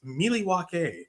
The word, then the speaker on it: Milwaukee: In fact, it's actually pronounced Milwaukee, which is our mountain for the good land.